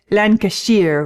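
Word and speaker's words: Lancashire: holes in Blackburn laner I like the way he said lashier which is the way you pronounce it up North this was the time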